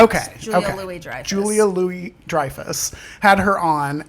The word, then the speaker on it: Louis-Dreyfus: Louis-Dreyfus. That's Okay. the way I've heard it pronounced. Okay. Julia okay. Louis-Dreyfus.